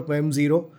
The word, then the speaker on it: Mem0: So we went for me zero. People still confuse it with like memo but it's fine.